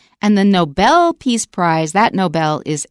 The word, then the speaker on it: Nobel: show you did ask me do you say Noble or Nobel and of course the correct pronunciation is Nobel but it is a word